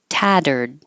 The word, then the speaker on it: tattered: Tattered. The two T's make a D, like fettered and butter.